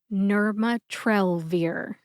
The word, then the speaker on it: nirmatrelvir: you get nmat trir emphasize Nur and trell trell gets the most emphasis we also call this the primary emphasis you emphasize it the most see if you can hear it when I say it slowly nurat trir nurat trir and quickly nurat trir our third and final